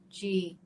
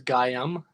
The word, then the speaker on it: Gaian: G-A-I-A-N. Gaian? Gaian. Gaian. I thought it was Gaiam or something. Oh, yeah, yeah. Yeah, Gaian. okay, that's cool that we're on the same page there. Good confirmation. Gaian.